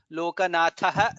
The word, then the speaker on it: लोकनाथः: In the second line lokabandhuhu dha is mahaprana, lokanathaha dha is mahaprana, madhavaha dha is mahaprana, bhaktavatsalaha bha is mahaprana.